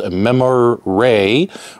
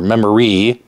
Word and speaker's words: Memoriae: the Infinity game table called memorray or memory but it's spelled kind of like ancient and it's a